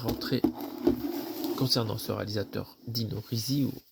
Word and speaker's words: Risi: concernant ce réalisateur Dino Rizi ça se prononce Z et le deuxè film